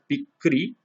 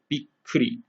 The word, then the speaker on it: びっくり: So, for example, if we have the word bikkuri, we'll write it bikkuri. So this double K represents this little pause right here.